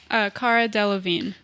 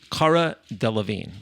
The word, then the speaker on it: Cara Delevingne: Cara Delevingne. Cara Delevingne.